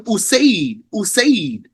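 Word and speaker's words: أُسَيْد: That's what's meant by spelled the same here, but pronounced differently because we have a dhamma on the first letter for the first word and a hamza on the first letter of the second word.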